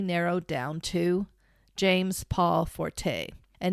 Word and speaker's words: Forte: Forte's name, and I believe I'm pronouncing that correctly, it's Forte. Forte, yeah.